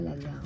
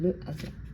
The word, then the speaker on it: hasard: Et on ne prononce pas le H, on ne dit pas l'hasard, on dit le hasard.